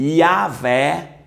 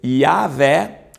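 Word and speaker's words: Yahweh: entender e para descobrir qual era a pronúncia Pode ser yaveh ou Yahoo e o que que acontecia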